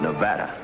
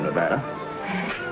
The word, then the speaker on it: Nevada: a man from Nevada by the way that's pronounced Nevada I notice you give it the broad ah I prefer it to a dreadful flat a only the Dreadful flat a is correct among the natives perhaps I just thought